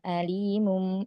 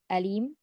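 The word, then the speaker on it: أليم: Jadi kalau kita bacanya kebalik dengan ain, alim, itu mengetahui artinya. Nah, makanya ini sangat fatal ya, perbedaan antara hamzah dan ain. Apabila kita membacanya keliru dengan ain, maka terjadilah lahan jali di situ ya, kesalahan yang bisa merubah makna.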